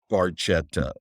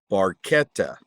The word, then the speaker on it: Barchetta: It is not pronounced Barchetta. It is pronounced Barchetta.